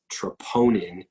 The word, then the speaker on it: troponin: panels here it this looks like tropomyosin it's pronounced troponin T ROP o ni n this is a